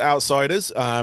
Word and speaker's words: OUTPSYDERS: Um, but it's called Outsiders, but it's spelt OUTPSYDERS. Just so in case anyone's looking for it, spelling it the other way.